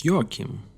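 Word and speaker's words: Joachim: No, it's Yakim.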